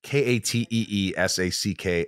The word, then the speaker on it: Katee Sackhoff: Katee Sackhoff. HOFF. Katee K-H-O-F. I'm not a great speller. It's okay. It's got, my name is spelled weird and I've got a silent H in it.